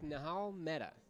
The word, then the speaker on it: Nihal Mehta: All right, and here we are with Nihal Mehta. Did I pronounce that right?